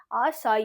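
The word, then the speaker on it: açaí: this okay what is this आशा आ शाई आसाई very famous commonly बच्चे okay आसाई shark tree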